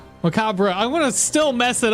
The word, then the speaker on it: macabre: Figures you don't say the re at the end. The spelling knife with a K, yeah. We say the re, but we say it differently as English speakers.